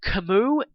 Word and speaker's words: Camus: Now, me personally, I believe that Camus, even though it sounds a little stupid, I